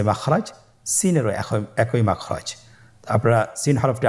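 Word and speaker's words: سين: Scene হরফটি বারিক হরফ পাতলা করে উচ্চারণ করতে হবে। তাহলে আমার সাথে বলুন সিন। আবার বলুন সিন মাশাল্লাহ আপনাদের হচ্ছে আলহামদুলিল্লাহ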